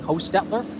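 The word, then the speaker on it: Hostetler: uh uh H it's Hostelter. I actually stopped and spoke with him yesterday. I wanted to find out how to pronounce that car. The CH is silent. So it's Lonnie Hostettler in uh in the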